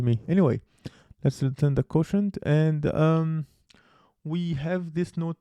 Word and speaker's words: quotient: We return the quotient, not quotation. But I guess it looks like quotation to me. Anyway, let's return the quotient, and we have this